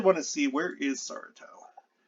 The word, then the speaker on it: Saratov: So I actually want to see, where is Saratov? I'm saying Saratov because they pronounce their W's as V's.